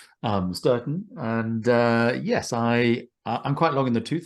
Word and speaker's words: Stourton: Hello, Christoph, and amazingly pronounced, Sturton.